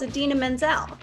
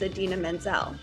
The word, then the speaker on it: Idina Menzel: blamed everyone but himself you don't need phonetic spelling for idina menzel it's adena menzel how do you pronounce it dina menzel you pronounce it like the actress adina menzel maybe it's the thing